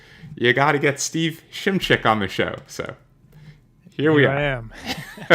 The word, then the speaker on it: Shimchick: That's how it's pronounced too. Shimchick is how it's pronounced.